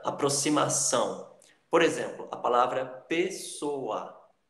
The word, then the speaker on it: pessoa: Por exemplo, a palavra pessoa, pessoa, ok? O A fica separado do O, tá?